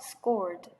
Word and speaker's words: scold: 헷갈리실 수 있어요 어떤 분들한테는이 오가 들어있는 애는 발음할 때처럼 입을 많이 모아서 scold 해주시면 되고 잔소리를 하다라는 뜻을 가지고 있는 단어예요